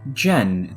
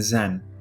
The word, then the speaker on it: Zen: your name is Zen it's pronounced more like Jen than Zen oh your name is